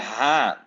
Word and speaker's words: haan: Okay, and this one is the haan. Rooster, the haan. And this one is very soft. You pronounce it very soft, almost like whispering.